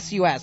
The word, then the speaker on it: Sus: Is there SUS?